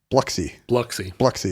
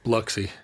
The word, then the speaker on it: Biloxi: Did you say Biloxi like 2 syllables? Biloxi. Is that how they say it in Mississippi? Biloxi. Mississippi. Everything loses a syllable.